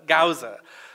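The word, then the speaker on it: Gause: Is that how you pronounce his name? Gauza.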